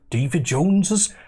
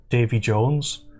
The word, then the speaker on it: Davy Jones: the crushing depths of David Jones's sorry you can't actually pronounce it Davy Jones it has to be pronounced Davy Jones's Locker before at this point